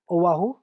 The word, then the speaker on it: Oahu: I don't want to Yeah, pronounce it wrongly. And then I Oahu. know the No, it's okay. Oahu.